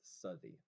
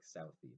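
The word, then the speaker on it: Southey: was written by Robert I think it's pronounced study it looks like Southie but I bet it's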